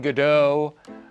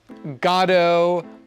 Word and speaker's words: Godot: And for anyone wondering on how to properly pronounce his name, I grew up saying Godot, Godot. Godot is a natural American pronunciation, right?